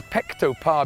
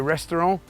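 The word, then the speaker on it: Ресторан: on earth is a pecto par behind me that's the most important word you need to learn it's actually a restaurant but written in cyrillic so just remember pectopar pronounce it restaurant right here we are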